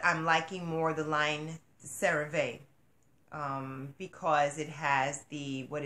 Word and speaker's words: CeraVe: CeraVe, that's how you pronounce it.